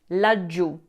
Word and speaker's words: laggiù: Laggiù. Is an adverb of place, meaning down there, formed by combining la for there and giù meaning down. Make sure you pronounce that double G, laggiù.